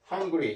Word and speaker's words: hungry: 예, hungry 이렇게 하면 아 발음이 되니까 안 되니까 이게 아 발음도 되고 어 발음도 되고 그래서 hungry 이렇게 그러니까 이 삿갓 발음을 그대로 쓴 겁니다. 사실은 hungry 이렇게 쓰면 정확한 발음 표현 hungry 이렇게 예.